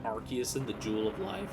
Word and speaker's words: Arceus: So like for me, I've always called it Arceus. But then like, I think the official term is Arceus. But it's weird because in Battle Revolution, they said Arceus, and I think that's why I call it Arceus, is because of that.